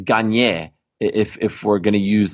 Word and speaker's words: Gagne: It's not Ganya, it's Gagne.